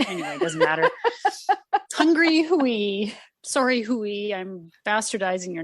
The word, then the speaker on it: Huy: I had to look up how to pronounce it because I thought it was hi, like guy. Yeah, okay, right. But then again, guy actually should be pronounced Guy because it's French. And so Hui kind of sounds similar.